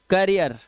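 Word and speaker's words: career: पर क्या लिखा है डबल ई के बाद आर आ जाएगा तो इसका उच्चारण अब देखो अब इ है नहीं अब इया है देखो ये क्या है देखो इसे क्या पढ़ते हो कर रियर करियर ठीक है ठीक है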